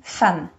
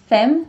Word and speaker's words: femme: So you spell it with the E, you pronounce it A.